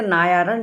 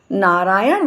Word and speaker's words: नारायण: उन्होंने कहा, भोलू, नारायण बोला करो।